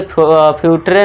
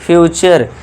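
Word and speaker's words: future: इसे क्या पढ़ेंगे? नेचर नटरे नहीं पढ़ना है। नेचर इस तरह से फ्यूटरे नहीं फ्यूचर।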